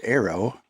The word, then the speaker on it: ARO: If you pay attention to what's been going on with Indian, you know that they uh are launching their ARO, pronounced arrow, line.